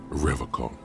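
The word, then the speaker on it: Revachol: call you pronounce is revon with a hard K unlike other people serious question time this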